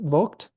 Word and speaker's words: Vogt: Do you pronounce it Vogt? Yep. Perfect.